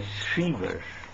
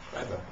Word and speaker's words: Schreiber: And there is a beautiful paper by Shriver. I have always difficulty in pronouncing his name. Schreiber. Schreiber. Yes. Schreiber.